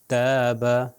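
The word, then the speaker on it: تاب: ता कहते हैं तो ते जबर ता और अलिफ यानी ये लॉन्ग वल हो गया ता और बे के ऊपर जबर हो गया बा ता बा ताबा ताबा का क्या मतलब है मिसाल तौबा करना तौबा करने के माने में है और अगर इसको मिस्टेकनली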